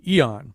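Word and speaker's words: Aeon: started uh in the magazine the online magazine Eon which is how we've decided to pronounce the name of the magazine now even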